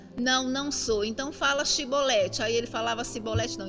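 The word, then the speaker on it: שיבולת: Então, quando eles iam pronunciar essa palavra Shibolete, eles falavam Sibolete.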